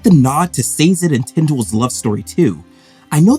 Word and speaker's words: Tindwell: First, can we talk about how I always want to say Twindle instead of Tindwell? I don't know why, it's really hard to keep that straight, so if I say it wrong, excuse me.